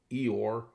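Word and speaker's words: EOIR: This the tool for this deception was the DOJ's executive office for immigrant re review called Eore. uh pronounced like Winnie the Pooh's sad donkey friend which oversees de deportation cases under Department of Homeland Security Alejandro Mayorcus.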